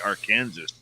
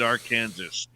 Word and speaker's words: Arkansas: Southeast by Arkansas yes I know it's Arkansas I like calling it our Kansas yeah somebody else changed the pronunciation of it they were originally peeved that they were part of Kansas so they made their own Kansas our Kansas and then somebody started